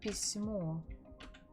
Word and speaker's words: письмо: Красивое письмо, письмо, письмо. The stress falls on the final syllable. Красивое письмо, красивое письмо.